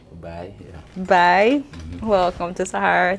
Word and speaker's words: Baay: Baay, did I pronounce that right? Baay, yeah.